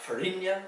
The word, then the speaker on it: farinha: Here, the nya sound is slightly different, because in Portuguese, when you have a nya sound, that's going to be spelled with an nh. You have farinha, which is cassava meal or flour.